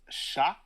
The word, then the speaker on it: chat: Like cats in French is chat, but it's spelled like chat. So the T is silent.